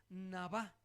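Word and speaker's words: נָבָא: Sin embargo, la palabra que se tradujo por profetiza aquí es la palabra hebrea nabá, con acento en la navá.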